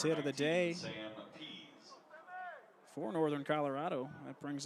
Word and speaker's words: Pease: Batting 7th, the catcher, third base hit of the day Sam Pease. for Northern Colorado. That brings up the catcher, Sam Pease. Pease, spell it P-E-A-S-E, the junior from Fort Collins.